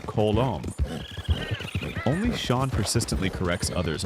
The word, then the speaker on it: Colm: But in truth, and as some Irish accented characters pronounce it, it's closer to Kolong.